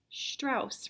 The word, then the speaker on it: Strauss: his name is ricard strauss rhymes with mouse ricard strauss lived a